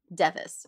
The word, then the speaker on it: Device: a teen girl named Allison device devis really is how you say it this one great that's a great name it looks like device them she lived with